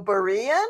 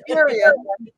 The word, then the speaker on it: Burien: Because most people look at that word and they go, Burien? What is that? It's Burien.